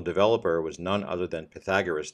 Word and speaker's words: Pythagoras: was none other than Pythagoras the philosopher or pronounced in Greek Pythagoras if you're a fine